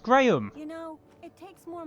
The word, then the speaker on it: Graham: It's pronounced Graham.